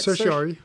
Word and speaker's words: certiorari: Certiorari.